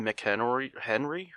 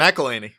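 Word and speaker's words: McElhenney: They killed Rob McHenry from Always Sunny. McElhaney.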